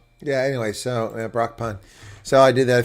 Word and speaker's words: Brakpan: speak for cons and how they pronounce Brockpan because that's how I pronounce it. Brock pun. Uh, but someone said brack pan and we who speak up for cons. It was kind of weird.